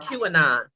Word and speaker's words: QAnon: K-on, how you say it again? The people who Trump. QAnon.